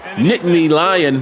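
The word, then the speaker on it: Nittany Lion: We are in Nitney Nitney Lion. That's how you say it, right?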